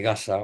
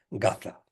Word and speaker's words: Gaza: está como usted decía la guerra de gasa o como decimos aquí en España gaza pronunciamos la c Entonces yo lo que